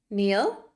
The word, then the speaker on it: kneel: don't forget you're okay and N together makes the K silent Neil knelt knelt kneel knelt